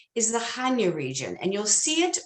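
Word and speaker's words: Chania: you i think so now how to pronounce hanya which is c-h-a-n-i-a it's basically a guttural ha but i leave that out sometimes and i just go hanya but hanya itself is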